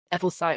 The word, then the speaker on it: Ebelthite: yourself yeah well firstly well done pronouncing my name uh people really struggle with that but e site was perfect so um yeah so